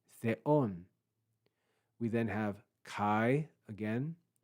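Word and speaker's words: θεόν: We then have theta, epsilon, Omicron, nu, with an accent on the second syllable, theon, theon. That's an acute accent, a rise, theon.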